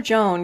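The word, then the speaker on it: Jeanne: if I remember cly that's how her name is actually pronounced it's Jan oh for real yeah oh you're throwing me off you have to call her Joan because everyone in in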